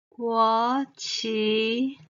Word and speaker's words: 國旗: like we say 國旗 the two characters 國 and 旗 are combined meaning the national flag the second tone 國旗 the national flag same